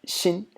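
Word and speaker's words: 辛: It's pronounced xin.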